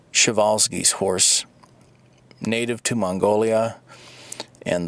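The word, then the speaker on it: Przewalski: to introduce a rare animal uh this is pronounced shal's horse native to Mongolia and the last remaining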